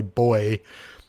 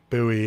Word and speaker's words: buoy: about this one, because here I would say boy, whereas when I'm in the States I say buoy, and then I probably don't even pronounce it right then.